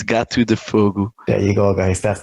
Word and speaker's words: Gato de Fogo: would make more sense it's actually portuguese yeah it's got to defogo there you go guys